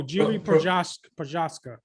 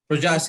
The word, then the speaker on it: Jiri Prochazka: The headliner is Glover Teixeira against, I don't know, how do you pronounce this guy's name? Oh, Jiri Prochazka. Prochazka.